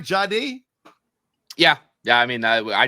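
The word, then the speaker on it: Jahdae: took one of Hogan's guys, a Texas Longhorn, Jadi Baron. Did I pronounce it right? Jadi.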